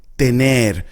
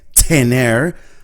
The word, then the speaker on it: tener: Tener. And notice how I pronounce the T. It's a very soft T. I don't say tener, I say tener.